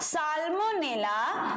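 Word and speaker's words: Salmonella: just इनके सामने होगा साल्मोनेला साल्मो ने ला ठीक है मेरे वर्ड इस तरह से प्रोनाउंस करते हैं ताकि आपको चीज समझ में अच्छे से क्लियर आए कि क्या बोल रहे हैं है ना ये ठीक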